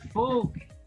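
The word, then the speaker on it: Volk: way right now but folk is from a german word comes from a german word germans capitalized their nouns the german word is folk but the germans pronounce the v like an f do you know what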